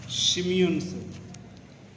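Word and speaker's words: Tsimshian: like the Hedas and Shimeon's children, T is silent here.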